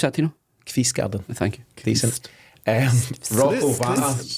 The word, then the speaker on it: Kvistgaarden: How do you pronounce that, Tino? Kvistgaarden.